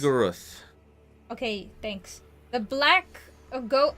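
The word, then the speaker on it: Shub-Niggurath: Shubnigoroth.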